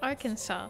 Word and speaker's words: Arkansas: And that's why the state is spelled like our Kansas, but it's actually pronounced Arkansas.